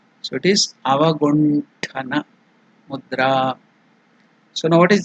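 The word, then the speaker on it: अवगुण्ठन: So if you tell ta, it is less force. Tha, Mahaprana, more energy, more breath is used. So it is Mahaprana. So it is Avagunthana Mudra.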